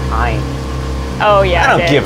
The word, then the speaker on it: Ayn: I also maybe believe I should it's pronounced Ayn.